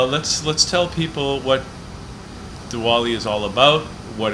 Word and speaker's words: Diwali: yes yes ok so let's talk about Diwali or Diwali how do you say it Diwali actually it is Deepavali the longer name you are pronouncing it correct but there's another sanskrit